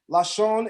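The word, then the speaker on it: לשון: Lashon is how you say tongue or language.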